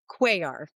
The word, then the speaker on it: Cuellar: Um, I am Quay, and I know that there are L's in my last name, and you want to pronounce them so bad, but they do not actually sound like L's.